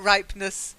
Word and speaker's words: ripeness: that's right but nice but ripeness because the e is silent well done so I